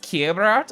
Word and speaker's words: Keliff: It's pronounced Keliff?